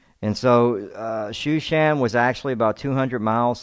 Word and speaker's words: Shushan: So, yes, Susa is what it looks like, but it's actually pronounced Shushan.